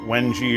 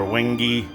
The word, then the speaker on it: Wenge: This is, they call it, I don't know how they pronounce it, Wenge or Wenge, W-E-N-G-E, I believe is how it's spelled.